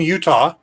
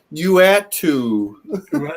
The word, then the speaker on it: Uatu: One person was calling him Utah. Yes, Johnny Utah went on to become the Watcher. Uatu. Yeah. I've heard some pretty interesting pronunciation of Uatu.